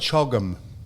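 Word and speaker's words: CHOGM: And the only reason I bring it up is because an acronym is only a pronouncable word like chogum.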